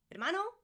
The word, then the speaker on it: hermano: Just like in hola, you never pronounce the H, guys. Hermano, hermana.